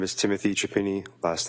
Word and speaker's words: Chiappini: My name is Timothy Chiappini. Last name is spelled C-H-I-A, as in Peter, as in Peter.